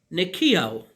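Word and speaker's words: νικάω: As you see, original word written here, part of speech verb, pronounced nikio or nikio, to conquer, to prevail.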